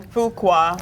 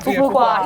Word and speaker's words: Fuqua: Fuqua. Fuqua.